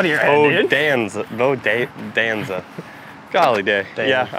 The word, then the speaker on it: Bodanza: Like Bonanza, but with a D, Bodanza. Bodanza. Yeah. I have struggled with it all day. Yeah, I get that song out of your head, dude. Bodanza, Bodanza.